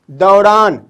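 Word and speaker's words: دوران: ये दोनों बीच में साउंड आ रहा है, ए यू का साउंड बीच में आ रहा है, और ये क्या कहला रहा है? दौरान, दाल वाव रे अलिफ नून, दौरान, दौरान।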